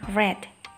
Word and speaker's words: read: menggunakan verb to ya membacanya cara bacanya berbeda dengan bentuk yang pertama Kalau yang untuk pertama kita membacanya with kalau bentuk yang kedua kita membacanya red si blablabla nota +